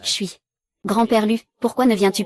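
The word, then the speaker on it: 水: Ce caractère se lit Chui.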